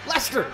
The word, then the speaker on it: Leicester: Leicester!